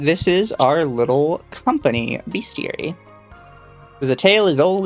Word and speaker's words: Bestiary: Uh, also Atari chat says, "Atari, you're in a company called Beastier." What do you mean? They're the besties. Beastiary. Uh, you pronounce it Beastiary.